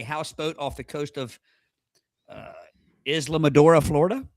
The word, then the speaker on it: Islamorada: off the coast of Islamorada, Florida. Does that sound right? Islamorada? Islamorada. No. What is it? It's Islamorada. Islamorada. How you say it?